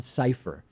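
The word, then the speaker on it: Sipher: security website by John cipher kind of a funny name for someone who writes on a security website whose last name is safe or like decypher even though it's spelled differently si pH er John cipher is a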